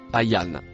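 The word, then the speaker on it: أيّان: Le mot en rouge et noir se prononce ayan. Définition du mot ayan dans sourate 79, verset 42. Ce mot n'a pas de racine. Il est composé de deux mots.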